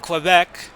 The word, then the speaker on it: Quebec: second period it's 2-1 quebec which rhymes with the great game show host alex trebek so a wide open